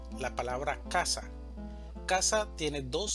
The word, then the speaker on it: casa: Si esta mayor fuerza de voz estuviera en la segunda sílaba, diríamos casá. Pero la pronunciación correcta en español es casa. Es decir, el mayor énfasis va a estar en la primera sílaba, casa.